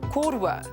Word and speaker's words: koutou: Koutou, you, two people.